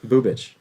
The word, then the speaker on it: Bubich: Say that last name again. Bubich. That's how you say it.